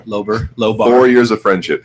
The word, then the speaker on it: Lowber: my heterosexual life partner who's maybe just mispronounced Slover thank you Lober lobo more years of